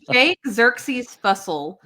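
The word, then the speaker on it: Jake Xerxes Fussell: It's Jake Xerxes Fussle.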